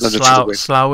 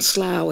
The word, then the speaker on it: Slough: And Slough is spelt SLOUGH, by the way. Rubber band. We spell things how they don't sound.